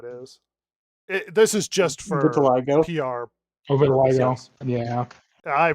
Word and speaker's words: vitiligo: This is just for Vitiligo. PR. Vitiligo. Yes. Yeah. I pronounce it correctly.